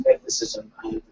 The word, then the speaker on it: mythicism: And by the way, the pronunciation is mythicism, just so you know, Wingman.